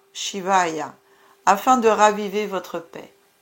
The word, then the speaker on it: Shivaya: Chantez Om Namah Shivaya afin de raviver votre paix.